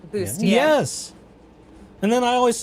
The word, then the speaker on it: bustier: bustier. That works. I That's like not that. how bustier is spelled, but I like the effort.